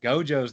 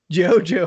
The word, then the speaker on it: Gojo: what they got you if you're like guju or something like that they'd probably tease you a little bit but you're like straight up jojo everyone's like jojo i pronounced the character